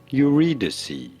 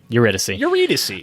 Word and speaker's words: Eurydice: About pronouncing her name? Eurydice. Eurydice.